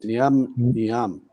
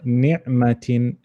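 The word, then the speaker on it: نعمةٍ: Ni'amtin. No, ni'matin. Ni'matin. Yep, there's a dot. That's right. You're right. There's a fatha there.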